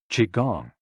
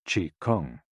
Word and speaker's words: Qigong: Qigong, also known as Qi Kung.